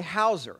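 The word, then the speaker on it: hawser: them with uh a Hauser now it's not spelled like you know there's a w in there somewhere um but a uh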